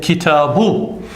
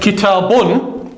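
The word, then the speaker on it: كِتَابٌ: pronounced u, as in kitabu. So even though I pronounce that word kitabun, because ordinarily in Arabic it always has the un sound, I've actually written a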